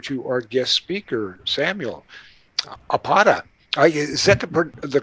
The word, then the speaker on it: Apata: our guest speaker, Samuel Apata. Is that the correct pronunciation of your last name? Close enough. Close enough. I'm going for the Spanish pronunciation there. The long A, Apata.